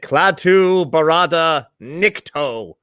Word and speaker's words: Klaatu Barada Nikto: Is that just spelled phonetically? Yeah, but you have to say it, Klaatu Barada Nikto.